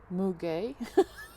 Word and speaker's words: muguet: Muguet, pronounced Muguet.